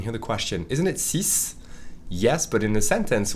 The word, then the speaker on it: six: most of the time, we only pronounce the SI, si, and not the X. Only if it's followed by a vowel, you hear the Z sound.